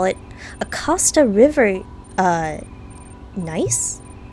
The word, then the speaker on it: gneiss: Scientists call it a Costa River gneiss? I assume the G is silent.